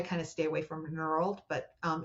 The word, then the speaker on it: knurled: Um, peened is p e ne d peened and knurled is k n I think it's e r l e d nurled.